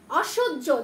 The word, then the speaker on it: অসহ্য: কিন্তু শ্যাই হয়েছে, বাট হয়ের সাথে যখন আমরা জ ফলা দিলাম এখানে কি হলো, অসহ্য, জ উচ্চারণ হলো, ঠিক আছে?